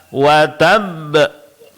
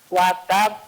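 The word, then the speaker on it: وتب: Terakhir dalam qalqalah. Watab. Watab. Naam. Jadi di sini sedikit diberikan tekanan pada qalqalahnya karena dia qalqalah kubra ya. Berhenti pada huruf qalqalah yang bertasydid. Berarti ada dua huruf yang sama dan dua-duanya mesti dibaca.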